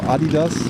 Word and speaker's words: Adidas: Adidas is closed, or Adidas as German would pronounce it.